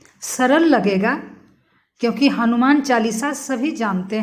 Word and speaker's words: हनुमान: कितना व्यक्ति को मैं देखती हूँ कि वो हनुमान नहीं बोल करके हनुमान बोल देता है, हलमान।